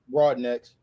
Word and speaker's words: Brodanex: So, I'm with Larry Br uh Broadenics. Did I pronounce it correct? Broadnecks.